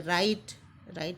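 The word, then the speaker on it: write: राइट में काय का प्रोनाउंसिएशन नहीं हो रहा है, डब्ल्यू का नहीं हो रहा है।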